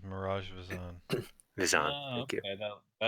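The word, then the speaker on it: Miraj Vizann: I think that was Mirage Vision, if I'm pronouncing it right. That Earth Genasi. That was in the temple below the monastery. The name you're saying is Mirage Vizan.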